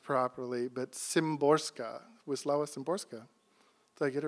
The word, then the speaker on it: Wisława Szymborska: The great poet Wisława, I can never get her name pronounced properly, but Szymborska, Wisława Szymborska.